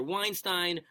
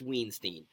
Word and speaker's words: Weinstein: you get one pronunciation I've always said Weinstein my whole life and people look Weinstein no it's either Weinstein or its Weinstein you don't get both especially you Harvey you